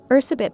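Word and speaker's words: Erzsébet: killer in recorded history Ursa bit Bathory known by the English pronunciation Elizabeth Bathory was born in the year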